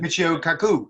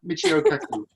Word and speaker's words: Michio Kaku: I don't know how to pronounce that. Should I zoom in? Yeah, That's his name. there we go. Michio Kaku, yes, I'd go for that. Michio Kaku.